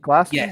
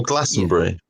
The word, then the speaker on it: Glastonbury: Glastonbury? Yes. Oh, Glastonbury. See, this is the thing that so my family are from around there, but I say Glastonbury and I get rinsed for it.